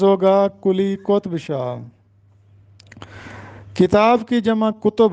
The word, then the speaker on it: قطب: بھی پیش، تو کتب۔ لیکن کلی قطب شاہ میں کاف پر پیش ہوگا اور توئے پر جزم ہوگا۔ کلی قطب شاہ، ہم